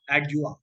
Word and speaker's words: Adjoa: एडजुआ, ठीक है, वी are going to pronounce एडजुआ।